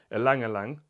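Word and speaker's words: ylang-ylang: I think some yellow florals in there with ylang ylang.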